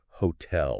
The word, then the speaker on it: hotel: And this is kind of interesting because French likes to put emphasis at the end of the word on the final syllable. So think about words like hotel or ballet. Okay. Yeah. There's that kind of lift at the end.